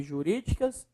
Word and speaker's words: jurídicas: Qual é a sílaba mais forte? Ah, professor, é ori, ó. Jurídicas. Última, penúltima, antepenúltima. Temos uma proparoxítona.